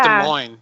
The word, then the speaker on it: Des Moines: It's pronounced Des Moines. That's where I live. I live with my parents. Gotcha. It's pronounced Des Moines. Not Des Moines.